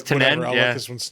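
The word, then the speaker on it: Tanen: dog going psychotic yes um studio executive ned tannen did i pronounce that right it's tinen yeah this one's not yes yes it's snide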